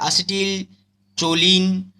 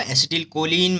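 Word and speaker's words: acetylcholine: ठीक है, जैसे एसिटिल चोलिन, मेथाचोलिन, कार्बाचॉल एंड बेथैनचॉल। ठीक है, इसका प्रोनाउंसिएशन अलग होगा, एसिटिल कोलिन, मेथाकोलिन, कार्बाकॉल एंड बेथैनकॉल, लेकिन याद रखने के लिए यहाँ पे चोली चोली चोली बोल रहे हैं।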